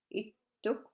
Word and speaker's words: ittuk: It's important to watch for the single and double consonants for correct pronunciation. Example, it took, that's an elderly man, or pattak. Ittuk or pattak.